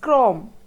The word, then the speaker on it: chrome: which has the chill sound this word is pronounced as Chrome where CH has the Cur sound so you